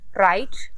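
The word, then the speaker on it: write: sound नहीं कर रहे राइट इसमें हम डब्लू को साउंड नहीं कर रहे रट इसमें भी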